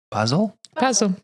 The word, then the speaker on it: Basel: Basel, like the herb. That's the herb.